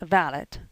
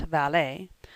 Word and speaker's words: valet: extremely pretty but also extremely extravagant the valit pronounced valid not valet is what bo brummel called a gentleman's gentleman